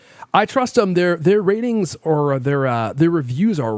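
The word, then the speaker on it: RTINGS: our shopping for a TV yeah that it's pronounced ratings if you had shopped for news TV in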